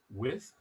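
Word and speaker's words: Wythe: the historic neighborhood in hampton of old width it's spelled w-y-t-h-e with and this is a front page article from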